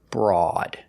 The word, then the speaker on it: broad: Except this word. This is broad. The OA does not make the long O like it's supposed to. It makes the sound aw. Aw, like ball and call and auto. Aw, broad.